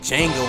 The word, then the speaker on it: Django: feel like Django in this bitch. And the D is silent.